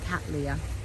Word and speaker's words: Cattleya: I always love the way everyone just pronounces Cattleya.